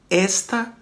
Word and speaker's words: esta: veja que uma coisa o acento ele já dá uma sonoridade aberta para a gente o acento agudo esta está ou seja você vê que a sílaba tônica aqui ó esta está beleza já muda esta um pronome demonstrativo feminino